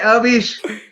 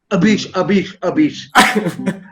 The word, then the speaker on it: Abish: And Hey, Avish, you always caught me for mispronouncing your name. Abish.